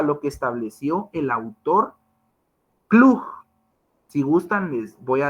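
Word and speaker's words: Klug: a remitirnos a lo que estableció el autor clug si gustan les voy a deletrear cómo es que se escribe el nombre del autor para que ustedes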